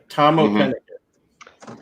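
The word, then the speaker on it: Tamoh Penikett: Yeah, Tomoa Pennicott.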